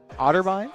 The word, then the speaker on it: Otterbein: I believe versus otter otterbine that's how you pronounce it yes yeah the academy